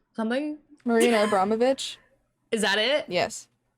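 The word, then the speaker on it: Abramović: Before I get started, I need to go look up how to pronounce something. Marina Abromovic. Is that it? Yes. Abromovic.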